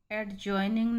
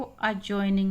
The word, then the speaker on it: adjoining: उसी तरह से ADJOINING, एडजॉइनिंग नहीं बोलेंगे इसको, अजॉइनिंग। मैंने यहाँ उच्चारण इसीलिए लिख रखा है, अजॉइनिंग पढ़ेंगे इसको।